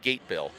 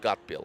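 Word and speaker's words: Gatebil: are you familiar with got bill the event no really okay look it up it says it's like gate bill but g-a-t-e-b-i-l it's pronounced got bill they do all sorts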